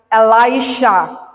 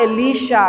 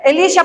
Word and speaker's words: Elisha: yung naturo sa akin, ang pag-pronounce ng pangalan niya ay Elisha. Yun pala, Elisha, kakabsat. Pakisabi nga, Elisha. Okay. Elisha pala ang basa, kakabsat.